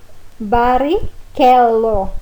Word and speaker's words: Barrichello: Che e chi. Em italiano nós vamos pronunciar que e chi. Por exemplo, a palavra Michelangelo ou do Rubinho, Barrichello.